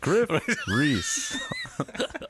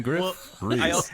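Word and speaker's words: Gruff Rhys: My name is pronounced Griff Reese. I Art just want thou to say ready that to into the rock? microphone once again, Griff Reese.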